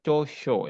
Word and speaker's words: 長所: Ini pronunciation-nya atau pengucapnya chosho ya.